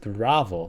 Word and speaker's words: Ravel: She pronounces it Ravvel, not Raval.